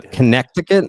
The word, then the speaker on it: Connecticut: I often spell the state that I've now lived in for five years incorrectly as a result of that silent C.